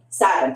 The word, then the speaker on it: SAVIN: Pennsylvania District Attorney's Institute for the Is it pronounced Savin or Savin? Savin.